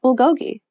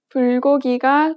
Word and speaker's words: 불고기: Try saying this English sentence out loud. I like bulgogi. Pay attention to the stresses. If you pronounce sentences like this in Korean, it will sound very unnatural. Listen to the native speaker say this sentence in Korean. 불고기가 좋아요. Native speakers do not place stress on any particular syllable.